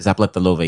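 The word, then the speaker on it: Zapletalová: Zapletalova, yeah. She's from Slovakia. Oh, Slovakia. Oh, snap. Damn. I pronounced her name I perfectly, meant but to I'm say the so sorry.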